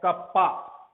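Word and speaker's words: kappa: है यह भी एक ग्रीक अल्फाबेट है जिसका प्रोनाउंसिएशन है कप्पा, ठीक है।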